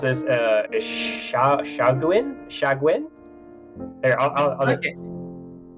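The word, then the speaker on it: Sahuagin: That's enough to recognize that this creature is, and I'm probably going to mispronounce this, Shagwin? Here, I'll okay. Shahuagan. Apparently, that's how Matt Mercer pronounced it.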